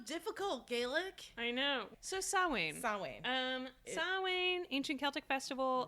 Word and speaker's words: Samhain: So Samhain, Samhain, which is spelled Samhain, but Because it's pronounced nothing like is easy.